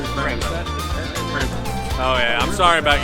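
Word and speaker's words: Prevost: Prevo. So it's a French-Canadian company. So you have a French-Canadian pronunciation. Prevo.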